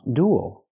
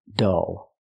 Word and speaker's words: dull: lecture was so dull the word is not pronounced duel it's pronounced dull it's dull can mean it's boring pay close attention to the pronunciation it's dull dull use the uh sound like cup and up it's closed and relaxed